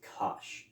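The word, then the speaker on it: cosh: don't have to say hyperbolic cosine it's actually pronounced Kos so C of X actually equals something in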